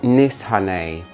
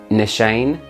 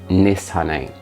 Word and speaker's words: Nishane: I've been told that it's supposed to be pronounced Nishane, but I have pronounced it both Nishane and Nishane. Somebody, if anyone from Turkey knows, please let us all know how we're supposed to pronounce it. The Turkish person said Nishane.